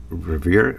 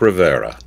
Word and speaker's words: Rivera: midwest and uh mark revere riverier came in to pronounce his last name how would you pronounce his last name mark rivera right river sorry like geraldo rivera all right good and